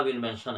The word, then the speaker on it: Willmansson: तो उसकी बेटी जो है बोलने लगी कि देखिए मेरा नाम विलमेंसन है, विलमेंसन, ध्यान रखिएगा, स्पेलिंग लिख लीजिएगा, विलमेंसन, WILLMANSSON, विलमेंसन।